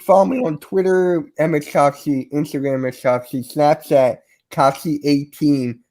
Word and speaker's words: Kofsky: It's Kofsky.